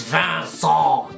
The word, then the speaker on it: Vincent: It is Vincent, it is French.